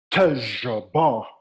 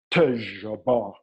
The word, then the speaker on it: Tajbar: And it goes like this. Tajbar. Just like that. Tajbar. And it's more guttural.